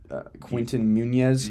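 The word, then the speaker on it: Quinton Meinerz: Quinton Munes.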